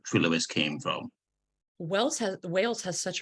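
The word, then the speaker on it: Trelewis: Is it Trelawis? Is that how you pronounce it? Trelawis, which means in Welsh it means Lewistown, which Lewistown?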